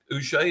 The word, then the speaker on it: Uche: Uche, is that how you say it?